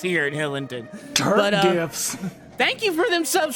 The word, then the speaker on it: GIF: It is pronounced GIF.